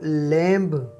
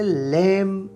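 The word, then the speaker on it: lamb: अगर आप इस लफ्ज़ को लैम्ब प्रोनाउंस करते हैं तो इसका मतलब है कि आप इसे गलत प्रोनाउंस करते हैं। हम इसे लैम्ब प्रोनाउंस करेंगे क्योंकि इस लफ्ज़ में लेटर बी साइलेंट है, इसे प्रोनाउंस नहीं करना है।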